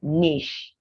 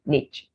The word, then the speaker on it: niche: have this word now people usually want to discover is it niche or niche well you'd be right but in in british english you'd say niche american you'd say niche mobile mobile british mobile